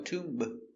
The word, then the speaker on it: tomb: Remember, no b, no tomb. Just tomb.